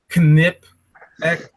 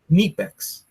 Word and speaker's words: Knipex: not it's not cipex it's not Kip X it's neex okay make a video on